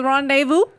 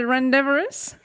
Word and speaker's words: rendezvous: Those Starting are- off strong with rendezvous. He said rendevorous. No, Wait, what? That was Was that Tina. Tina? Oh. That was Tina. Rendivorous.